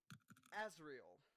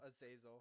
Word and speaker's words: Azazel: Azrael. There we go. So Azrael or Azazel? Azazel. That's his name.